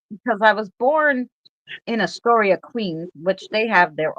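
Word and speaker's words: Astoria: born and raised in Atoria. But because I listen to him speak like Atoria, the A is pronounced like the pronunciation is on the A at the end.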